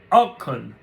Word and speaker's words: Auken: Now, beyond privacy and property, in a publication for the World Economic Forum, Danish eco-activist Ida Auken, who served as her country's Minister of Environment from 2011 to 2014.